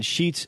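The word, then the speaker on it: Scheetz: I can understand because my last name being sheets sche etz people think it's spelled like the sheets market yeah sometimes they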